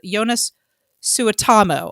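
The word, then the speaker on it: Joonas Suotamo: He's Finnish, and I looked up Jonas Suotamo, I think is how you pronounce it.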